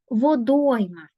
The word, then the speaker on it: водойма: перевірити Отже слово водойма спочатку визначаємо наголос водойма так наголошена друга о визначаємо кількість складів три